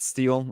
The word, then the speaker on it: Sheill: to make sure I have your name pronounced steel as what I'm assuming okay like steel steel I got to do